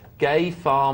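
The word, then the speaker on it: Gefahr: way is GE Mouse is pronounced as nearly as I can get it gay far Mouse helped us out there it's the German for Danger Mouse brilliant I used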